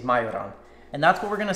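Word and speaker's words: majorán: We have cumin, coriander, as well as majoran. That's how I pronounce it in Slovakia. That's how we say it, is majoran.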